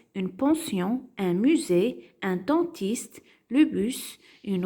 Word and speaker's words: musée: et la lettre S qui se trouve dans les mots et qui se prononce Z on a une case